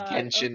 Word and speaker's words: Genshin: It's a hard G. It's I saw the video. It's not a J. Oh my god. It is Genshin Impact.